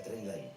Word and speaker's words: Trainline: Se pronuncia Trainline.